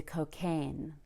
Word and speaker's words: cocaine: on the second syllable now cocaine is an irregular noun it's a noun but we stress the second syllable so we need to